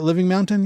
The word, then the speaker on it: Living Mountain: Living Mountain?